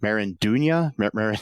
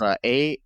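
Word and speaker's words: Maridueña: The show stars William Zabka as Johnny Lawrence, Ralph Macchio as Daniel LaRusso, Zolo Marinduña. I can't pronounce his name. It's Marideuna. Oh.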